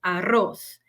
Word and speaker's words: arroz: feijo aois es igual lo que cambia es la pronunciación arroz la r doble no vibra entonces arroz y feij decimos frijol